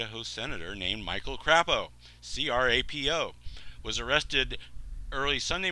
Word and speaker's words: Crapo: The 61-year-old Crapo, here it says how to pronounce his name, Crapo.